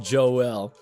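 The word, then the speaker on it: Joelle: the ghosts Joel it turns out it is pronounced Joel over the last few well I guess today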